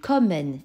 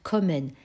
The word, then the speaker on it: kommen: Ligne numéro 2, kommen. Écoute bien, tu entends, ce n'est pas un O fermé, c'est un O ouvert. Bref, kommen. Pourquoi? Parce qu'il y a derrière deux consonnes. Ici, deux M.